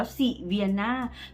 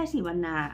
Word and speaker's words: Sivanna: แบรนด์ เขา อ่าน ว่า สิน่า ฉัน เพิ่ง รู้ แก เ ลง ใน เพจ ว่า เออ แบรนด์ เขา อ่าน ว่า สิ vian ไม่ ใช่ สี วรนา โอเค silvan Color เ